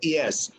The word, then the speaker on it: IaaS: If you move to IaaS as infrastructure as a service, what does IaaS, or sometimes it's pronounced ES. Sometimes you will hear me say ES.